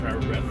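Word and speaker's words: Harbour Breton: Alright, just like that, we are in Harbor Breton. It's actually pronounced Harbor Breton.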